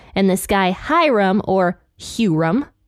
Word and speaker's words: Huram: and in the NLT they don't pronounce hyrum's name as hyam they call him hurum so hopefully that isn't